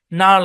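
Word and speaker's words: gnarl: তারপরে দেখেন যেসব জায়গায় জি উচ্চারিত হবে না, খেয়াল করেন শব্দের শুরুতে বা শেষে জি এন থাকলে জি সাইলেন্ট। যেমন ধরেন নেট আছে এখানে, তারপরে সাইন আছে, সাইন হচ্ছে শব্দের শেষে, নার্ল আছে, নস্টিক আছে।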